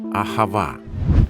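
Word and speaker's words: אהבה: Воно вимовляється ахава.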